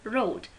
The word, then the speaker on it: wrote: And wrote, W is silent.